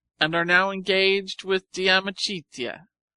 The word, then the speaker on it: De Amicitia: We've finished Livy and De Senectute, and are now engaged with De Amicitia, pronounced Dam Ichidia.